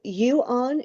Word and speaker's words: yuon: So, this is the the yuon. Is that how you pronounce that? That's correct. Auon just like a mu on electron represent the fundamental particles in this case.